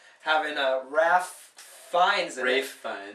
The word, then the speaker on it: Ralph Fiennes: Rafe Fiennes. Rafe Fiennes. I always knew him as Ralph Fiennes. That's how it's spelled. Me too.